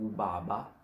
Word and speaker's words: ubaba: So it's more pronounced and heavier, more air coming out of your mouth when you're saying that.